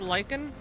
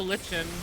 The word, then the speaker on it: lichen: pronounced for that one is it pronounced lichen or is it also lichen lichen okay that's what I thought it can be both okay whenever I would